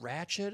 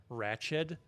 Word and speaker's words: Ratched: Her half Brazilian side just thinks that it's pronounced wretched, or she's trying to do like a Moira Rose. Like, oh, Ratched. that's just wretched.